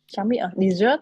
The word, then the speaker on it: dessert: cái cộn nào CH dessert à dessert chert desert desert desert Ok sa mạc đọc là desert nha desert bỏ mức một chữ s ha Mình nghĩ Sa mạc thì nó không có ngon như là trá miệng nên nó sẽ bớt một chữ sờ đấy nên sa